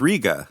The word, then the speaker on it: Rega: really big um and that's Ria and everybody calls it Rea and it's Ria and I asked a dealer I go is it Ria or Rea he goes it's Ria because that's how Roy Gandy says it and so it's